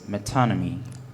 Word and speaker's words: metonymy: it is associated with is there an alternate pronunciation for the word metonymy no the only pronunciation i have here is metonymy metonymy may i have